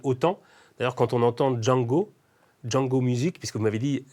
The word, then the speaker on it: Zhang: D'ailleurs, quand on entend Django Music, puisque vous m'avez dit, ça ne se prononce pas, le Z et le H ne se prononcent pas Zhang, mais Djang.